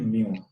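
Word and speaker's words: mu: इसको प्रोनाउंस करते हैं म्यू, MEW।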